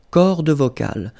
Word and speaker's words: cordes vocales: So you can notice that, as usual in French, you've got this mark of the plural at the end, S, and then S here as well, but you don't pronounce them, okay?